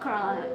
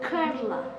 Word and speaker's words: Kerala: Not Kerala, Kerala. Kerala, that's how they say it.